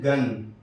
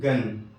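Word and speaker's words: gun: Number 1، اگر جی کے بعد ای یا آئی کے علاوہ کوئی دوسرا حرف ہو تو جی کا تلفظ ہمیشہ گاف سے ہوتا ہے. جی کے بعد ای نہ ہو یا آئی نہ ہو، ان کے علاوہ 24 میں سے کوئی بھی حروف ہو تو ایسی صورت میں جی کا تلفظ گاف سے ہوتا ہے. جیسے گن، جی یو این، گن، دیکھیے جی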